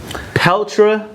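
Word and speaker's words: Petr: Jimmy Rivera versus Pelter. Even though it's spelled P-E-T-R, there's obviously an invisible L and an invisible A.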